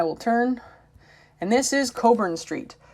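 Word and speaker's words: Cockburn: turn and this is Coburn Street it is not written how it's pronounced and it's not pronounced how it's written and I'll let you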